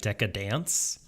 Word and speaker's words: Deca-Dence: Although it doesn't exactly work, because I feel like in Japanese the pronunciation ends up sounding like Deca-Dance.